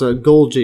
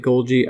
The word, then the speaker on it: Golgi: Yeah, I think it's actually pronounced Golgi, yeah.